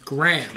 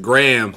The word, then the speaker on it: GRHM: How do you say your rap name? Graham. We got Graham. Spell it. It's GRHM. Graham.